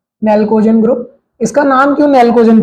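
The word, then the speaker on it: pnictogen: इसको क्या बोलते हैं, पी नेल्कोजन। अब ये जो पी है साइलेंट होता है, नेल्कोजन ग्रुप।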